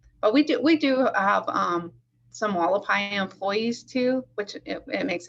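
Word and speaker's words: Hualapai: And do you have a relationship with I forgive how I pronounce it, the Haulopai? The Wallapai?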